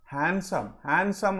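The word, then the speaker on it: handsome: సో ఇక్కడ హ్యాండ్సమ్ అనాలి.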